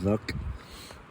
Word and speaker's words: Werk: Helgo Werk, spelled with a W. Helgo Werk. But it's German, so you got to say Werk.